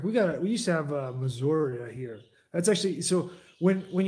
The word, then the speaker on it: Missouri: He has to add an A on the end just to put some twang in there, It's actually they're pronouncing that's the Missouri Indian tribe. You don't say it Missouri, you say Missouri.